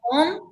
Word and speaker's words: Köln: They pronounce it Köln, but that was a beautiful city, very artsy.